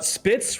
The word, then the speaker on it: Spitz: So, Spitz rhymes with Fitz.